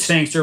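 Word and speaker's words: Sangster: just just type in sanster rhymes with Gangster but one of the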